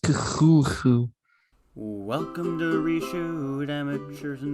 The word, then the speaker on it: Cthulhu: Cthulhu, Ryle, Waknag, Ftogin. Okay, sorry, I got the stuff out of my throat. Ready to begin. It's pronounced Cthulhu.